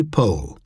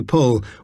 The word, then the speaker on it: Powell: As an inspiration of the moment, I replied that, like the Boston family of Lowell, I rhymed it with Noel rather than towel. Here, Anthony Powell was describing an incident